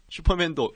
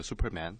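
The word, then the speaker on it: Superman: 조심해야 되는 게 뭐냐면 우리가 한국말로 슈퍼맨 슈퍼맨 하는데 실제로 영어로는 슈가 아니라 모조리 쓰 수 벌 그렇죠 수 라고 발음 안 쓰는게 훨씬 정확한 그 형편이 되거든요 슈퍼맨 이라고 하면 사람들이 잘 못 알아들을 수도 있어요 뭐야 이거 영어 발음의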